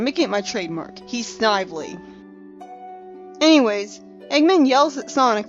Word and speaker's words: Snively: by the way I just yesterday heard apparently snidely's name is actually pronounced Snively which is a stupid pronunciation